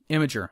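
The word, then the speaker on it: Imgur: Imager.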